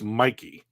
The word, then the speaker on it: Mikey: It is like Nike with an M. So it's Mikey.